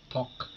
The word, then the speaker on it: talk: Kalau ada L Talk. berada di akhir kata, di satu huruf sebelum huruf terakhir, seperti ini kan talek, itu dibaca talk.